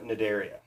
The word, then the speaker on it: Cnidaria: these are the jellies the C is silent phylum Cnidaria the name mid area